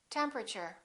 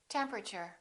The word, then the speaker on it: temperature: don't say Extra Ordinary say extraordinary preference preference temperature temperature broccoli don't say broccoli say broccoli diamond diamond